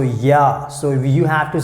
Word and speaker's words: ja: So here you can see J, we pronounce like Y, so ja.